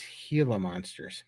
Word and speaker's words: Gila monster: they're nice that's crazy Giller monsters are venomous pronounced heila monsters H I'm trying to